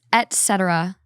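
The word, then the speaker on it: etc.: the same words wrong it's ET Etc there's no C etc etc etc that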